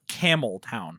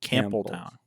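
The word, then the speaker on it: Campbeltown: you were saying MH it's not camel town like the animal no very much notamp cample oh p camp Town yeah but it's Scottish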